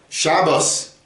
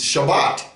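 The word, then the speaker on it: שבת: Shabbos is Shabbat. It ends in a tav, so they change it to an S. Okay, just be aware of that, because it can be very confusing if you don't know that they do that.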